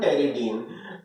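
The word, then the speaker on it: pteridine: इस न्यूक्लियस को बोलते हैं हम टेरिडीन। टेरिडीन क्लियर है? टेरिडीन पी से स्टार्ट होता है, यहाँ पी साइलेंट होता है।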